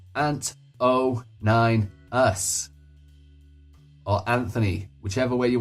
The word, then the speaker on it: anto9us: And remember, it's pronounced Ant09us.